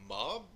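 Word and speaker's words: MAWB: The player's name was Mob, I believe, M-A-W-B, so I think it's pronounced Mob. We're going to go with Mob anyway.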